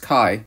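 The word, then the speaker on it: chi: Kai so this is a Greek letter pronounced Kai and if you have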